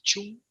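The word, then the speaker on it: 寸: Que ellos le llaman chun, Se escribe cum, pero es chun, y abajo sería la equivalencia en milímetros.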